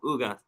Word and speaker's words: Ugas: I want to make sure I'm saying it right, Ugas. We know that. Ugas, you said it right.